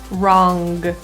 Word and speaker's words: wrong: The NG sound is difficult for people because they often assume the G is pronounced as a G for wrong. Wrong. But in North American English pronunciation, this nasal sound is not fully released generally. So wrong is pronounced with the back of your tongue right up to the roof of your mouth.